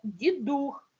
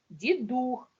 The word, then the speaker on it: Дідух: читаєте частіше звернули увагу що саме Дідух наголосна Ух Дідух бо я також цього